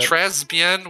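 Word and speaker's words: très bien: It's Tresbien? Not good. I think she tries to say that. Tresbien, which is like, you don't pronounce the S.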